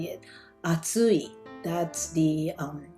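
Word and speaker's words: 暑い: metcha in japanese that's how you say it atsui that's the um correct pronunciation for heart super hot that's what it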